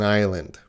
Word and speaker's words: island: Japan is an island. Or actually, Japan is many islands. Ireland is an island. Can you hear the difference? Ireland. Island.